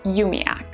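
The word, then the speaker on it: umiaq: is u m i a q which is pronounced umiac this one is also borrowed from the Inuit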